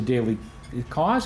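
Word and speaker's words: Daily Kos: I got a quote from the Daily Cause. Is that how you pronounce it?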